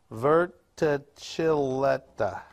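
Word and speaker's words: verticillata: is hydrilla virtually leaf i pronounce that middle word wrong not correct v-e-r-t-i-c-i-l-l-a-t-a virta chileta see osmosis is crazy so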